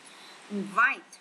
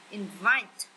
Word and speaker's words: invite: Invite, nhấn âm 2. Invite, đây là động từ mời.